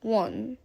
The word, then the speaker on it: won: It's won. Exactly like that.